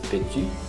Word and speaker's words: petit: Você não pronunciou o segundo T, petit.